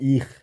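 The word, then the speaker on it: ich: যারা ছিল বাবারি স্টেটের ওদিকে তারা বলে হচ্ছে ইখ আই খ উচ্চারণ ইখ ইহ বলতে পারবেন দুইটাই কারেক্ট কোন সমস্যা নাই ঠিক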